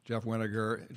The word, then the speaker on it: Weninger: I wasn't sure even how to pronounce his name, but he just said it rhymes with vinegar. So I think I've said that right, Jeff Weninger.